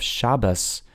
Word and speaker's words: Shabbos: And the S at the end of Shabbos is a tav, but why do they pronounce it like with an S? Well, because it's like a sav.